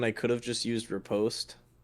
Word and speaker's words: riposte: I used parry when I could have just used riposte. It's riposte Riposte. Yeah, anyway. because it's French.